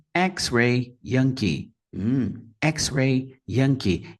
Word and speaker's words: X-ray: pela palavra código xray duas sílabas xray xray primeira sílaba também a mais forte e aí a gente